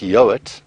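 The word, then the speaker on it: Yeowart: Now, my name, first name, A-L-A-N, and then I've got quite an interesting surname, which is pronounced Yowart, but it's spelled Y-E-O-W-A-R-T.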